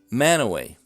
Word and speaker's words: Mantua: Well, I'll point them to words like look and book if they want examples of the double O pronounced Mantua.